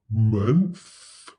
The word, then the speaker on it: month: pronounce the TH, and sometimes TH is voiceless, like in month.